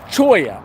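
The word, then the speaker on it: cholla: Cactus or a or a choya I believe it's called as the pronunciation so that's them right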